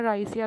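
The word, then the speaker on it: grisea: राइस blast का जो causal organism है वो है पायरेक्लेरिया ग्रीसिया। पायरेक्लेरिया, इसको इसको कभी कभी जी को साइलेंट भी कर देते हैं, कुछ लोग ग्रेसिया बोल देते हैं, राइसिया भी बोल देते हैं, ठीक है।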